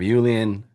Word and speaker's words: Iulian: Is how you pronounce the first name? Julian.